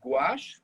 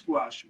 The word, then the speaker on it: gouache: to you see in france we call it gouache but in english we call it opaque watercolor because people didn't understand they couldn't even pronounce gouache but it was the worst thing when i